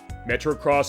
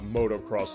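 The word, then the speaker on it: Metro-Cross: Pac-Man Miss Pac-Man Galaga Metro cross I said it right this time I said uh Motocross last week that was wrong uh the tower duraga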